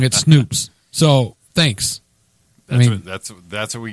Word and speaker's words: Snopes: It's pronounced Snoops. Oh, not Snopes?